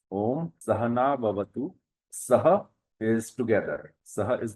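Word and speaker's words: Om Saha Navavatu: So the pronunciation is Om Sahana Bhavatu.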